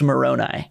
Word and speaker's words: Moroni: member of the church, you would have picked up that it's pronounced Moroni.